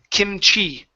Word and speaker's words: kimchi: here is this name the name is kimchi kimchi stress on the end kimchi good good so